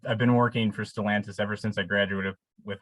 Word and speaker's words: Stellantis: a question about and correct my my pronunciation if it's wrong stellantis is that that is is that your job now yes that's pronounced correctly which Speaking of pronunciation